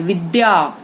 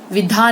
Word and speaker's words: विद्या: ये द और य मिला के बनाया गया है, जिसमें द आधा है और य पूरा है, तो इसको द्य करते हैं। विद्या, विधा नहीं, विद्या, विद्यालय, ठीक है।